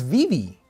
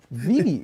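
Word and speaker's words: Vevay: This is Vivi. Vivi, Indiana. BB? Yeah. All right. Gnawbone. This isn't a funny pronunciation, but there's some great towns down in southern Indiana.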